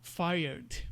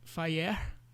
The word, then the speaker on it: fired: Como se invertesse o E e o R. E aí a pronúncia não é fireer, é um pouco diferente, né?